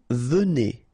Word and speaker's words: venez: Vous venez, okay? So Z at the end combine will give you the sound E, and here you've got venez, vous venez, all right?